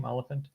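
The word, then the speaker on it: Olyphant: me though uh Timothy olant is that how you pronounced his name olant yep okay hearing his voice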